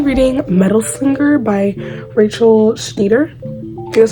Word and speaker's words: Schneider: I'm currently reading Metal Slinger by Rachel Schneider. That's how you pronounce it.